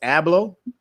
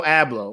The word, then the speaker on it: Abloh: So if you don't know who Virgil, I believe how you pronounce it is Abloh, Virgil Abloh, mm-hmm.